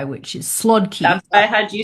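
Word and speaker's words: słodki: So, because it's Polish, it's pronounced swadi and it means sweet in Polish.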